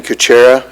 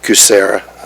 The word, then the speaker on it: Kucera: The other three proposals, we're recommending Kuchera. After going through them, it's the Kucera. I keep saying it wrong.